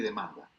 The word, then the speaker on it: demand: ¿Cómo se dice oferta y demanda? La oferta y la demanda. Demand and supply. Demand and supply. No se olvide demand, el acento va en man.